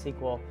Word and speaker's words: SQL: a mouthful my SQL sequel is generally sequel sequel is it a a an abbreviation for structured English query language so it's usually pronounced sequel however a lot of